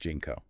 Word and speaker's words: JNCO: about is jnco jeans jnco yeah pronounced jeno you know those jeans